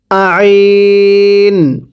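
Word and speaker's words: ع: আইনটা চাপ দিয়ে পড়বেন আইন, গলার মাঝখানে চাপ দিতে হবে আইন।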